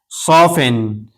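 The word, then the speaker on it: soften: इसी तरह सौफिन सौफिन यहां भी टी साइलेंट है।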